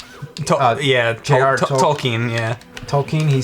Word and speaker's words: Tolkien: Tolkien? Tolkien, yeah.